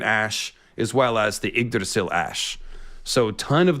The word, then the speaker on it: Yggdrasil: The weirwood stigmata, George grew up Catholic, Yggdrasil.